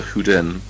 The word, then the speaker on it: Hyden: Okay, now 1962, 32, you go to Sweden and Gothenburg, or Göteborg, however they pronounce it. You work with Prof. Holger Huden, spelled Hyden, That's correct.